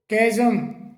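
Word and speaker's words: chasm: इसे कैजम कैजम करके बोला जाता है।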